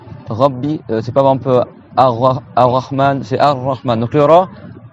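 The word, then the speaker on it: الرحمن: Et en arabe, il faut pas le faire rouler. C'est-à-dire qu'il faut le tenir un peu pas qu'il roule. C'est pas Ar-Rahman, c'est Ar-Rahman.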